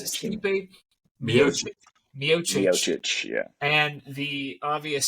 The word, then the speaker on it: Miocic: Stipe, how do you pronounce it? Stipe Miocic.